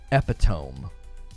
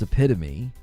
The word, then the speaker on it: epitome: And for an entire sermon, he was saying epiome instead of epitome. And he said a sweet little lady came up to him afterwards and said, "I really hate to do this, but it's pronounced epitome."